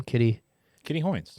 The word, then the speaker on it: Kitty Hoynes: Kitty Hoynes.